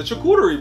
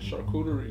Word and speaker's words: charcuterie: The charcuterie board. That's not how you say it. How you say it? Charcuterie. Charcuterie board. The charcuterie.